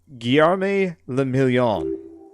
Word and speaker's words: Guillerme le Million: Guillerme le Million. If it doesn't rhyme, you're not pronouncing it right.